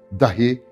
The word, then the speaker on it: dahi: Dahi kısa okunur iki hece, nokta nokta diye gösterilir. Bir de dahi var. Dahi, alim, bilgin vesaire. Ama buradaki dahi bile anlamındadır. Dolayısıyla da kısa okunur.